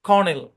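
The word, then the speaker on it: colonel: Silent ও এর ধরাবাধা কোনো rule নাই, জাস্ট লিস্ট মনে রাখতে হবে। People, leopard, জেপার্ডি, কর্নেল।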